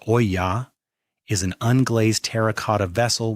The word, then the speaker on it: olla: An olla, pronounced oya, is an unglazed terracotta vessel with a narrow neck and a rounded body.